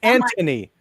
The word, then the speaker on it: Anthony: not Nathan umy Anthony I keep wanting to call him Nathan it's Anthony it's Anthony no h so there's a guy